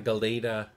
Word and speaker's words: Gelada: baboon gilly gelda i always call the gelda but there is that a in the middle of the l and the d it's a galeta baboon it's not one of